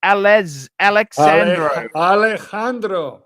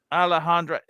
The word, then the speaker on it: Alejandro: I think that J is silent. It's Alexandro. Alejandro.